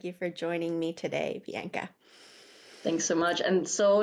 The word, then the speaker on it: Bianka: for joining me today Bianca thanks so much and so nice that you pronounced my name perfectly because most like Americans or Canadians say like Bianca so I love that Bianca is perfect it's perfect um okay